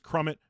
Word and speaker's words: Crummett: His name is Crummett, not Dummett.